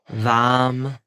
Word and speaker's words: VAM: If you sit in your mind's eye, you think of the color orange, and you repeat the words Vam, Vam, Vam, Vam, Vam, Vam, V-A-M, Vam.